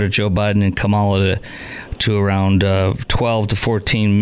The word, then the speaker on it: Kamala: Biden and Kamala to around 12 to 14 million.